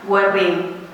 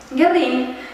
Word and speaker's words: Guerrín: sin duda la pizzería Guerrín, dicen fundada en 1932, que se pronuncia sin la U con diéresis, so pena de terminar recluido en la Patagonia.